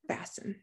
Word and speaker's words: fasten: the t if we could hear the t the word would be fast in but that's not how we say fasten yeah with silence k